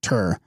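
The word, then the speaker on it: གཏེར: a term derived from the Tibetan word gur pronounced tur meaning treasure those who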